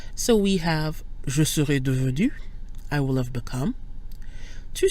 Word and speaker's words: devenu: Neither the E or the S changes the pronunciation of devenu.